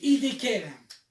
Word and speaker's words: Hiddekel: Le troisième fleuve s'appelle Hiddekel. Ah, chez moi, c'est le tigre. Moi, c'est écrit C'est la même chose. Hiddekel. Ouais. Hiddekel.